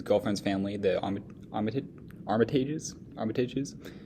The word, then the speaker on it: Armitage: he visits his girlfriend's family the omitted Armitage Armitage is how that's pronounced as he continues to his day the